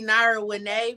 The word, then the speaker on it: Nara Winay: I had to laugh because it's really Nara Winay, but you did better than other people. I told sometimes I mess up names, but I did the best I could. How you pronounce it? I'm sorry. Nara Winay. So Nara Winay. But when you read it, people be like marijuana. So they thought I was saying it like marijuana.